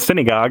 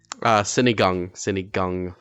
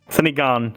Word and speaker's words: sinigang: So I went to go try Colton's famous synagogue. Am I pronouncing it correctly? Sinigang. Sinigang.